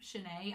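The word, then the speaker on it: Shinei: And then as far as Shanae, it's supposed to be Shanae is how you say his name. Shanae, I'll go with it.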